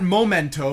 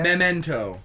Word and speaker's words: memento: there's memento or momento it's not momento because it's spelled Mema ent Oh a memento an en em are you okay miss mr.